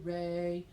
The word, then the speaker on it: re: we introduce ourselves formally it's pronounced ray spelled with the letter R so I encourage you